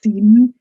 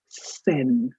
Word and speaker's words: Seine: So, and please don't pronounce it as Seine, it's Seine. It's like Amartya Sen.